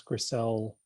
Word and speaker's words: Grisel: i think we sell it's grisel and i really apologize if i got your name wrong all right that's okay that's okay it's that's how you pronounce it great go ahead you